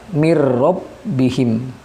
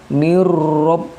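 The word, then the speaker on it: مِن رَّبِّهِمْ: the crowd Hai dan cara membacanya hugeng mirrobbihim bir robbihim tanpa menahan atau Hai mengayun jadi harus jelas mirrobbihim bukan neurop nah seperti itu salah Jadi harus jelas bacaannya mirrobbihim tanpa ghunnah atau menahan bacaannya Nah itulah penjelasan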